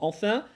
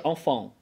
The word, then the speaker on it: enfin: Наконец – это для тех, кто сумел наконец добиться правильности в произношении слова enfin и не говорит уже enfant.